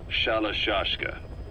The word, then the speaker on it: Shalashaska: The guerrillas were using the name amongst themselves, and by the time I got to hearing about it, pronunciation had wound up as Shalashaska.